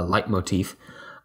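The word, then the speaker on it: leitmotif: to sound design is the idea of a light motif um which is spelled a little word a little weird it's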